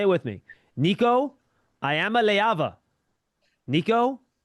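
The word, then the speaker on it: Iamaleava: Niko Ayamaava. Nikico Ayamaava. And that's how you pronounce the last name.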